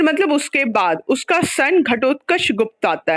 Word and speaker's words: घटोत्कच: घटोत्कचा किसका नाम हो सकता है? घटोत्कच तुम लोग महाभारत में सुने हो, पढ़े हो। महाभारत तुम लोग सारे लोग टीवी पे देखे होंगे, घटोत्कच था उसमें। ऐसे वर्ड्स का मिस अगर प्रोनाउंसिएशन गलत होता है, दिस इज नॉट गुड।